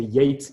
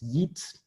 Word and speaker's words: Yeats: Et pareil, à un moment alors Yeats, qu'il faut donc prononcer Yates, il le prononce Yeats.